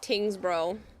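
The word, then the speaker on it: Tyngsborough: You don't always pronounce the ro of everything. So Tingsboro. You're not pronouncing the whole thing.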